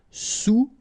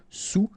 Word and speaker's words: sous: All right, and remember, sous, okay, final S not pronounced, so S-O-U, sous, sous-marin.